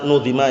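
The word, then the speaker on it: نُظِمَ: Tadi bacanya nadhama, yang benar nudhima ya.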